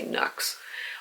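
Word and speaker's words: Nuxe: I'm assuming it rhymes with Lux, so I'm going to say Nux.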